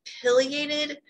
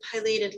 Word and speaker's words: pileated: Some people say pileated when they say the name of this bird, and I intentionally looked this up a bit yesterday, and both pronunciations are accepted. I learned pileated long ago, and that's